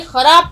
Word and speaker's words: خراب: فصل اچھی نہیں ہوگی۔ اب دیکھیے خراب کا تلفظ، خراب کبھی مت پڑھیے گا، یہ خے ہے یہاں پر، اور آپ کو ہندی میں جب آپ پڑھیں گے تو اس میں کھاں پر آپ لگائیں گے ایک بندی، خراب، ٹھیک، بندی لگائیں گے تو یہ بن جائے گا خے۔ لفظ ہوتا ہے خراب، خراب کوئی لفظ نہیں ہوتا۔ تو تلفظ پھر سے،